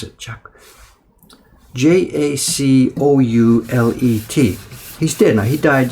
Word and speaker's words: Jacoulet: there, the printmaker Paul Jacquelet, how do you pronounce it? Jacoulet.